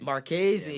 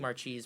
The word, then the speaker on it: Marchese: Is that how you say it? Marchese. Marchese. Yeah, I'm saying Marchese.